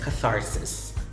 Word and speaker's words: catharsis: thesis or thesis and the last example of the word with the voiceless th sound is catharsis catharsis catharsis is a